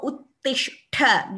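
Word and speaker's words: उत्तिष्ठ: Look at this sh and th together. So Uttishtha, this pronunciation should be perfect.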